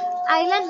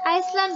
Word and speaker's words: island: তো আপাতত মনে রাখবে যে এখানে আইল্যান্ড বানানটিতে এস এর উচ্চারণটা উজ্জ্বল থাকবে, হবে আইল্যান্ড, আইসল্যান্ড বলা যাবে না।